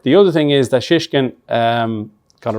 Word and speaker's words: Shishkin: Yeah, it's a bit like shh. You have to really emphasise the SH.